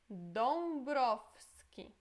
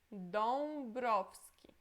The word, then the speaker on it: Dąbrowski: Depois Dąbrowski. Dąbrowski. Essa letra é Dąbrowski. Ok? E praticamente esse W é pronunciado como se fosse F. Dąbrowski, ok?